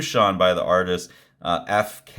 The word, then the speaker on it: EPHK: by the artist uh FK e e e p h k f FK I think is how you pronounce it um some really fun